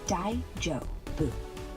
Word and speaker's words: daijoubu: Pronounce it Daijubu.